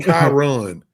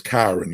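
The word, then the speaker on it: Kyron: His name is Kiran. Like Byron with a K.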